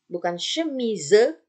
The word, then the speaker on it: chemise: Nah, kalau dia terletak di akhir kata, tulisannya dia tidak dibaca. Ya, contoh, bukan chemise, tapi chemise.